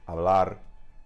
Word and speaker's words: hablar: But that is why we have these silent H's written in Spanish in words like hablar, hecho, hacer, okay?